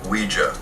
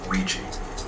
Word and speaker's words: Ouija: origin of the name Ouija Ouija what it's pronounced Ouija not Ouiji it comes from the French and German words